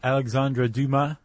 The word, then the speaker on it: Alexandre Dumas: We have a classic novel written by Alexandre Dumas. I checked pronunciation.